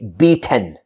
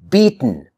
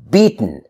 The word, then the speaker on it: beaten: lot of learners say b10 b10 okay b10 but we don't say b10 we don't pronounce the t and the vowel e b10 like that we don't say it like that we say beaten beaten beaten do you